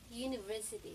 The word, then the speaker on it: university: Guys, nagsisimula sa U, pero ang bigkas niya parang nagsisimula sa Y. University.